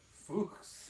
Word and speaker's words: Fuchs: Griffey says we have Century Oils and Fuchs here in Stoke, so Fuchs. Fuchs. Fuchs. You have to pronounce the hu, otherwise you get told off on YouTube.